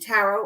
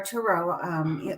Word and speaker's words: tarot: And I have the tarot, but I reserve the tarot or tarot. Either way is appropriate to pronounce it.